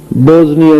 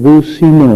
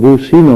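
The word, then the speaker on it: بوسنیا: منصر المسلمین فی البوزنیا، حالانکہ وہ ملک بوسینا ہے، اسلامی ملک ہے، اور بوسینا اس کا نام ہے۔ انگریزوں نے اپنے اس تلفظ سے بوسینا کو بیکار کر بوزنیا کر دیا، تو مولانا دعا عربی میں مانگ رہے تھے، ممبر پہ بیٹھے، لیکن اسے بوزنی کہے جا رہے تھے عربی میں بھی، حالانکہ وہ بوسینا لفظ ہے۔ اسی طرح ایک ریاست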